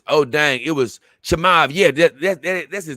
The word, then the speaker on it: Chimaev: Chimaev, that's his name.